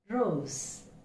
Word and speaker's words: rose: Okay, so we have a different O, which we'll learn soon, and the S is not S, but it is Z. It's rose.